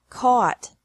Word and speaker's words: caught: Catch, caught, caught. Fight, fought, fought. Seek, sought, sought. Teach, taught, taught. Think, thought, thought. Remember that the G is silent in these verbs.